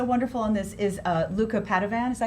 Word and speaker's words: Padovan: Oh, and you know who else is so wonderful on this is Luca Padovan. Is that how you pronounce his last name?